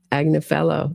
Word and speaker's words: Agnello: Karen Agnello. That's how it's pronounced. he said in court which is a good way for me to remember it. It's like he's a jolly good fellow. So Agna fellow and he also represented